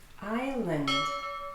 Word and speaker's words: island: Island. Hawaii is an island. Don't pronounce the S.